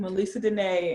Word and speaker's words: Melessa Denee: And that's my real name, Melessa Denee.